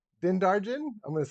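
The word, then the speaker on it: Din Djarin: we got bo katan i always say his name wrong the mandalorian di din darjen din darjen i'm going to say that then darjen django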